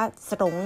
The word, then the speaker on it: สรง: ไม่ แท้ นะ คะ เรา จะ ไม่ ออก เสียง ร เรือ นะ คะ อ่าน ว่า สงฆ์ นี้ ไม่ ออก นะ